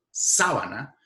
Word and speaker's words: sabana: palabra esdrújula si sábana mientras que la palabra sábana que tiene la prominencia central en la penúltima sílaba es decir es una palabra grave sábana esa palabra significa otra